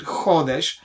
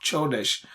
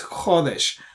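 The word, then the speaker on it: חודש: But this letter, that's how you pronounce it, Chodesh. By the way, some people might read this and say Chodesh. Now, this is not Chodesh. This is Chodesh.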